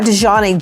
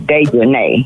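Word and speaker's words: Dejanae: Her name is Dejanay. Yeah, that's Dejanay. It's Dejanay because it's got A-E on the end.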